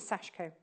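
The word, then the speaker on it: Sashiko: mmm she don't mean she actually told us how to say it as well and it is sashko they go you were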